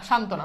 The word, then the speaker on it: সান্ত্বনা: সান্ত্বনা এটা কি হবে, শান্ত না, সান্ত্বনা, বুঝছো।